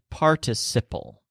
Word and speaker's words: participle: So the stresses are on part and sip, participle.